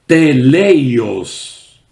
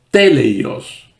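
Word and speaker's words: τέλειος: Allí nos habla que la palabra madurez en griego se conoce con la palabra teleios o teleios, acentuando la primera sílaba.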